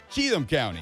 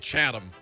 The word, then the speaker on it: Cheatham: all the same direction that's all i got cheatham county cheatham county which i would have probably called chatham at a different time in my life all